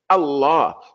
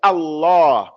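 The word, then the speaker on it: الله: So the name of our Lord is Allah. Allah. It's not Allah. It's not Allah. Allah. Allah. That's his name. It has a shadda in. You have to pronounce it correctly.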